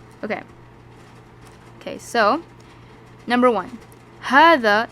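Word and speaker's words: هذا: okay so number one hada it's pronounced as ha okay so it's pronounced as hada but it is written without the first alif where is the first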